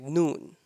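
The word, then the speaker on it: نون: last lesson starts with noon noon noon and lam both of them they have almost same point of pronunciation so noon the sound of noon comes out from the part of our hard palate from the front part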